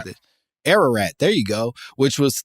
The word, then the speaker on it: Ararat: Aurora I don't know how to say this Ararat there you go which was thought by Europeans